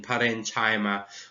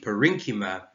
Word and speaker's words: parenchyma: and i can imagine everyone saying parenchyma when it's actually parenchyma koilinkima sclerenkima xylem and